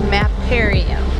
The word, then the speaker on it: Mapparium: Okay, correction. It's Mapparium.